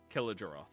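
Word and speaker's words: Kiri-Jolith: Kirdroth? Kirijaloth? Killajaroth. Killajaroth. It's like kill a giraffe, but a giraffe.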